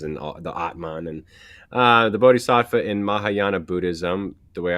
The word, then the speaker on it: Bodhisattva: Bodhisattva? Bodhisattva, yeah.